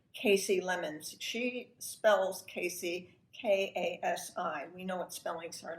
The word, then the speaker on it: Kasi: She spells Kasi, K-A-S-I. We know what spellings are like. They can be extremely creative, but she pronounces it Kasi.